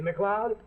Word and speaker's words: MacLeod: scott's name like mine see macleod sounds like club that's spelled m-a-c-l-e-o-d well this is bantry